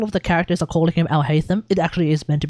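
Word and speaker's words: Alhaitham: On top of that, like A-L, Al. I see A-L, I say Al. I see H-A-I, I say hi. Because that's literally like hi. In Japanese, H-A-I, hi. Which means yes. And then T-H-A-M, tham. Al-Haytham. No. That makes sense to me. But apparently it's Al-Haytham. And I guess that makes sense too, because I guess you're meant to look at H-A-I-T as in hate, as in Haiti, H-A-I-T-I, Haiti, Al-Haytham. I guess that's how that's meant to work.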